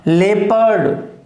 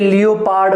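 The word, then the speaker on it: leopard: अच्छा, लेपर्ड, क्लियर है? ये लियोपार्ड वगैरह ऐसा कोई प्रोनाउंसिएशन इसका नहीं है।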